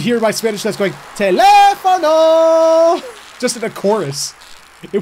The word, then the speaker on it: teléfono: joke from Spanish class, very few people could say teléfono right because they didn't put the emphasis on the second A. Teléfono.